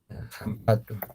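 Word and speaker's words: hampatu: Entonces, eh, esto de aquí, que tenemos el H, lo vamos a pronunciar como el J, que es en castellano, ¿ya? Entonces, ¿cómo sonaría? Sería despacio y suave, ¿no?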